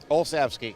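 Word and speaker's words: Olsavsky: tell me the pronunciation of your last name. Olski.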